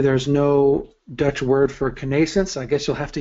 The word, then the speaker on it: connascence: yeah I actually uh didn't know how to pronounce it until I heard um a guy named Jim O'Brien give a talk on it and he said conance so I assume that's the correct way to to talk about it and then